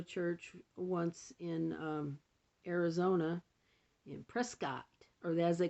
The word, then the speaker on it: Prescott: I did go to church once in Arizona, in Prescott, or as they call it, Prescott, which I think is ridiculous because the spelling is spelled Prescott.